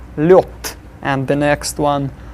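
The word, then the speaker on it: лёд: Then lod will be lyot.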